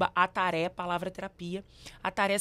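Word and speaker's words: atarê: @ ataré palavr terapia aara se fala como se escreve a t a r e palavra terapia aara é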